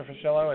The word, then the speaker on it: Fuschillo: the CEO of Alzheimer's Foundation of America, Charles Fuschillo. Do I have that correct, Mr. Fuschillo? Is that the pronunciation?